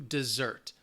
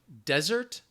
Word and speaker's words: desert: The difference would be the emphasis, where that stress is. So the noun, desert, the stress is on the first syllable. The verb, desert, the stress is on the second syllable.